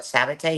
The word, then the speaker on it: Sabet: Sabet. Yeah, that's how you say my last name. That's how you say it.